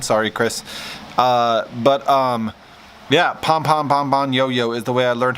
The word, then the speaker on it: Pombonyo: Yeah, Pombonyo is the way I learned how to say his name when we met in Vegas.